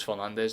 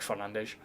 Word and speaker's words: Fernandes: Everyone thinks it's Fernandez and then it's like Fernandes.